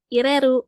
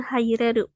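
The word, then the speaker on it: 入れる: Tapi kalau misalkan di belakang kanji ini ada ditambahin re, ru, berarti ini dibacanya ireru, bukan haireru ya.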